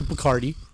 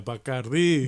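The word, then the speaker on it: Bacardi: I saw you went to Bkardi. Uh Bardi.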